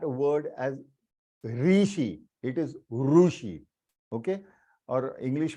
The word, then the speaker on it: ऋषि: Long, ऋषि, ऋषि, ऋषि, तो रू भी बड़ा बन जाता है और शी भी बड़ा बनता है, ऋषि। इट इज नॉट ऋषि। कृपया करके उसे प्रोनाउंस करते वक्त री मत यूज कीजिएगा, प्लीज डोंट यूज इट।